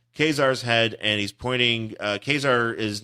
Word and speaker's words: Ka-Zar: Ka-Zar is not dressed like he is in the. Oh, he's just wearing slacks. But he's dressed kind of like. I like it because it rhymes with Lazar.